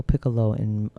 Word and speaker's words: Piccolo: So let's get to, I guess, talking about you said you performed in Italy, and there was a Teatro Piccolo and am I pronouncing that correctly?